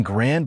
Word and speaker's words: grand: The same mechanism explains a stranger example, en grand armée. In grand by itself, the final D is silent.